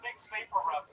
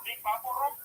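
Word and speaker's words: Vicks VapoRub: It took me 12 years, 12 years after I moved here to realize that is actually pronounced fixed vapor rub. Do you have any idea how many CDs I went to asking for big papur?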